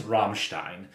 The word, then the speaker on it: Rammstein: today to review Rammstein's, and that is how you pronounce it. I will post the link. There's a guy who teaches German on YouTube. No surprise there. It is Rammstein.